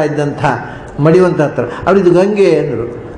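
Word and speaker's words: Ganges: ಅಲ್ಲಿ ಸ್ನಾನ ಮಾಡ್ತಾ ಇದ್ದಂಥ ಮಡಿವಂತ ಹತ್ರ ಅವ್ರು ಇದು ಗಂಗೆ ಅಂದರು. ಅದನ್ನು ಅವ್ರು ಗಂಗೆ, ಗ್ಯಾಂಜಸ್ ಅಂತ ಪ್ರೊನೌನ್ಸಿಯೇಷನ್ ಅಲ್ಲ ಅದರದ್ದು. ಅದರ GES ಗಂಗೆ ಅಷ್ಟೇ ಅದು ಉಚ್ಚಾರ. ಅದು ಗಾಂಜಸ್ಸು ಅಂತ ನಮಗೆ ಉಚ್ಚಾರ ಮಾಡಲಿಕ್ಕೆ ಗೊತ್ತಿಲ್ಲದೆ ನಾವು ಮಾಡಿದ್ದು. ಹಾಗಾಗಿ ಈಗ ಒಂಥರ ಬೇರೆ ಥರ ಉಚ್ಚಾರ ಆಗಬೇಕಲ್ಲ.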